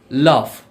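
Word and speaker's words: laugh: লাফ।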